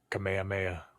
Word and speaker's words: Kamehameha: It was only in like 1895, bro, that fucking King Kamehameha take that shit. Kamehameha? Like Dragon Ball Z? King. I always say it wrong. They're going to hate me now. Kamehameha.